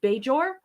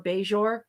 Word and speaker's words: Bajor: And there's no threat to the safety of Bajor or Bajor, however you want to pronounce it, because people pronounce it both ways.